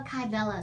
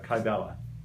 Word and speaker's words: Kybella: Hold on, they just asked, how do you spell Kybella?